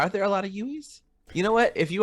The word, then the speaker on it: Uwe: double checking everything because we got Uwe wrong. Uwe. Mm-hmm. It's Uwe.